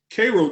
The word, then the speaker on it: Cairo: a small town called cairo georgia it's spelled like cairo egypt but the residents pronounce it cairo georgia and so when we